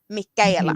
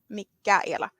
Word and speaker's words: Mikaela: Yeah, the CH it's a K. Mikaela. Mhm. Mikaela. Yeah, that's what we would say in Sweden. It doesn't matter if it's, spelt with the CH or with a K or a CK. It's all the same to us.